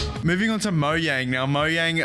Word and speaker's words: Mojang: moving on to moyang now Mo Yang I'm actually pretty sure I'm pronouncing that correctly I don't think it's Mojang I think it's Mo Yang I'm at the moyang